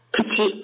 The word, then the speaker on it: 口: Kuchi.